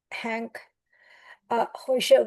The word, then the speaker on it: Hank Hoischer: And today we have Hank Hoischer with us. Did I pronounce it correctly? You did very well, Kashmira.